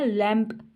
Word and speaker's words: lamb: जैसे कि इधर वो बता रहे हैं लैम्प, LAM, इसको हम लैम्प, बी तो नहीं कह रहे ना, लैम्प इस तरह प्रोनाउंस नहीं करती इसको हम लैम्प कहते हैं। ठीक है, तो इसमें जो बी है ना वो साइलेंट लेटर है, क्योंकि वो साइलेंट हो रहा है, उसको हम प्रोनाउंस नहीं कर रहे।